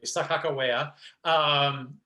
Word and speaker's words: Sacajawea: So interestingly, Blake sang the role of, as we all think in North Dakota that we say it correctly, Sacajawea, in Michael Ching's Corps